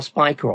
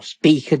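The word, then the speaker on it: Spica: the upper left of the star Spiker or speaker depending on how you want to pronounce it both in Vergo and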